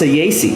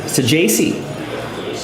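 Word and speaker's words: Saggese: Here is Thomas Saci Saji 91 out of 199. I think it's the pronunciation is J in the middle there.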